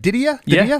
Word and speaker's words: DiDia: produced by Nick Dida uh who did I pronounce it right Didia that's it Didia yep you got it diaa he's uh worked